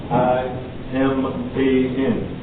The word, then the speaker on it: Iman: I-M-A-N. But sometimes that doesn't allow you to know how to pronounce it correctly. But the correct pronunciation of this word is Iman.